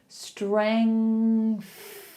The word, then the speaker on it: strength: Strength.